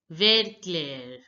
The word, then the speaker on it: vert clair: Light green is pronounced as vert clair, vert clair. Now notice that here the T is not pronounced and ER sound is pronounced as air, ver, ver.